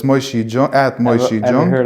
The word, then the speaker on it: Moshe Jung: spelled with the J, it's pronounced with the Y. So it's Moshe Jung at Moshe Ever Jung.